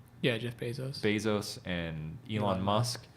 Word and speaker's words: Bezos: Yeah, Jeff Bezos.